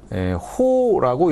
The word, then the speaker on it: 호: 7 뭐 이런 식으로 이게 아라비아 숫자로 써져 있는 애들이 있어요. 얘네들은 호라고 읽으시면 됩니다.